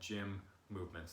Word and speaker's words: GYMMVMT: Another option that is available that has become quite popular as of late is what's called Gym Movements, and that's spelled GYMMVMT. So it's short. It's like none of the vowels, and they offer 30